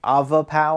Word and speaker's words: Avapow: this listed which is actually Avo pow I believe is how it's pronounced on the Amazon listing and so they reached